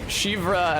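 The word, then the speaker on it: Siofra: And I was in Shivra, and I said, is that how you say it, Shivra? And then somebody with an S-I-O in their Irish name said yes.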